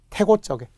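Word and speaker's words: 태곳적: 그래서 사이시옷이 들어가고 발음은 된 소리가 나네요. 태고적, 소시적 이렇게 되죠.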